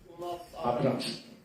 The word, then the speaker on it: Abrahamsson: Comment prononce-t-on exactement votre nom? Abrahamsson.